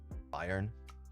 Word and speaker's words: Bayern: Bayern Bayern proper way to say Bayern Munich.